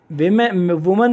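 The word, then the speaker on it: women: इसी तरह मैंने आपको बताया था वेमेन का मोर देन वन वुमन होगी तो ई लग जाएगा, वीमेन हो जाता है, इसका प्रोनाउंसिएशन होता है वीमेन।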